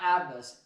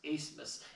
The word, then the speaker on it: Asmus: And Max Asmus, not Abmas, Asmus. So it's a silent B.